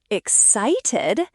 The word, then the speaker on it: excited: Excited ex-cited. Stress on site.